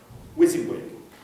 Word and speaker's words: WYSIWYG: W, Y. S, I, W. Y, G.